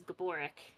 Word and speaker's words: Gabor: he's like you know the actual way to pronounce my name is Gabor Gabor yeah he doesn't care